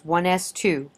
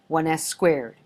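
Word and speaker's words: 1s²: Please note that the proper pronunciation for this configuration is 1s2, not 1s squared. This is a superscript indicating number of electrons, not an exponent.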